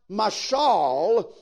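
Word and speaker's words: מָשָׁל: that is used here comes from a word that is pronounced m'shall that whose root word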